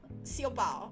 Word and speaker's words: Siopao: Siopao. Like, what is Siopao Lodge? Like, because I'm pronouncing it as though I'm pronouncing it like Cantonese style, and then I think of it as buns.